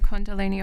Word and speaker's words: kundalini: Do you mind me asking about the condalini awakening?